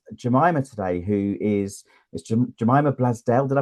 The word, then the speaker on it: Blazdell: I'm with Jemima today, who is Jemima Blazdell. Did I pronounce that correctly, Jemima? Blazdell, yeah, Blazdell, yeah.